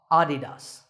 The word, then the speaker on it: Adidas: So the correct pronunciation is with the stress on the first syllable, ah, Adidas.